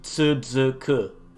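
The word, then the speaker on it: つづく: And that's pronounced tsuzuku, or to be continued.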